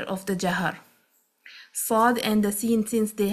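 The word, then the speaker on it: ص: So you begin the letter saad with the s sound, which is similar to the letter seen. So the beginning would be similar like a seen, but once you pronounce it, make it heavy by curving the tongue and raising it from the back.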